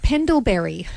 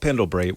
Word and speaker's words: Pendlebury: Scott Pendlebury.